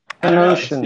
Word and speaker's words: Panosian: Panosian. Nah. Okay. I don't know. Is that how you say it? Panosian. How have you been saying it? Pan-ocean. Isn't it Pan-ocean? Pan-ocean. Yes, Ocean, you are right.